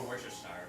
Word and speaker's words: Worcestershire: I've heard it say Worcestershire or Worcestershire, but it's Worcestershire? not Shire. It's a sure.